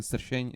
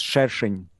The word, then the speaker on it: Sršeň: And my last name for absolutely insane pronunciation, Sršeň is my last name, which is called like Hornet. But I don't know how is it called in Russian, but it will be... It's Sršeň.